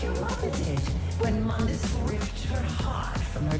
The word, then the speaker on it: Mundus: in the original I can't remember yeah it's pronounced Mundus now the g r blood rage oh